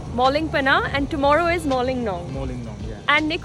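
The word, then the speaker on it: Mawlynnong: And how do you pronounce that? I've always been very confused. Mawlin Nong. Mawlin Nong. Mawlin Nong, and today we are going to Moling Bana. Moling Bana, and tomorrow is Moling Nong.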